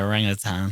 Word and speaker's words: orangutan: that family or whatever the fuck, orangutans actually pronounced orangutan. Orang-utan. Orangutan. Depends how you want to pronounce it. That's how it is pronounced. Attenborough pronounced it. He says tan, I think. He says orang-utan, doesn't he?